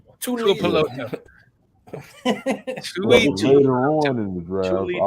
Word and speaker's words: Tuipulotu: You literally pronounce every vowel like Tuipulotu. You know, you pronounce the vowel like you would A-E-I-O. Yeah, Tuipulotu.